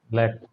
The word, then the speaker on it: black: ব্ল্যাক, এটা হচ্ছে ব্ল্যাক, black, ঠিক আছে? এটা Black. ব্ল্যাক, একটু ব্ল্যাক finger. ব্ল্যাক, ব্ল্যাক mamba, African ব্ল্যাক mamba, African ব্ল্যাক mamba, right? বুঝতে পারছেন? ব্লেক তো অন্য জিনিস, ঠিক আছে?